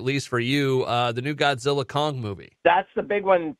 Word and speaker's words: Godzilla x Kong: So is it Godzilla, just Godzilla Kong or Godzilla X Kong? How do you say it? Godzilla Kong.